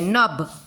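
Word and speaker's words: knob: Night, इधर तक pronunciation होता है, K का प्रोनाउंसिएशन नहीं होता है। नब, NOB नब इतने तक प्रोनाउंसिएशन होता है, K का प्रोनाउंसिएशन नहीं होता है।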